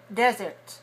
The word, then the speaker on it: desert: desert resort city okay let me hear you say desert with a little t at the end okay desert desert how